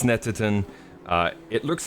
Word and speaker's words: Snetterton: is a lap of snetatone that's right no it's snatterton it's pronounced snetterton uh it looks like